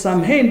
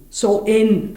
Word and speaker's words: Samhain: The pagan Samhain festival, which is not pronounced as Samhain but it is pronounced Soin festival, celebrated the final harvest, death and the onset of winter.